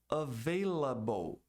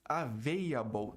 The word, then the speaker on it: available: Disponível, available. Available, muita gente diz available, tira o L, não pronuncia o L, eu não sei porquê até hoje, mas tem muita gente que não pronuncia esse L.